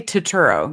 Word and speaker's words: Turturro: Sorry, I always say his name wrong. Turturro. How do you say his name? I say Turturro, John Turturro.